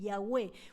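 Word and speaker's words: Yahweh: de Jehová es yagé en hebreo realmente se pronuncia así yahwe uno va creciendo Y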